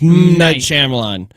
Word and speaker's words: Night Shyamalan: he did I heard M night Shyamalan Chim Chim and mi Nam I think it's night oh it is yeah people never pronounce his name right it's night Shyamalan what movie I really